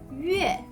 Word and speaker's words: yue: Mais quand on a besoin de mettre U au début du syllabe, on rajoute Y et on enlève le 2 points. Il s'écrit Yue.